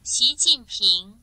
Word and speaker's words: 习近平: 시진핑이 중국 발음이 이렇게 된다고 합니다. 제가 시진핑 준비를 해왔는데요. 아니었나? 구글에 따르면 이렇게 됩니다. 네. 习近平 맞잖아. 핑. 다시 한번 볼까요? 习近平 네, 이거 성조가 어렵습니다. 좀 그렇고요.